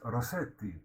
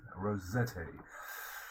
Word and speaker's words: Rossetti: dante gabriel rossetti of course it should be pronounced rossetti but uh the english pronunciation is rosetta now of course he was an italian descent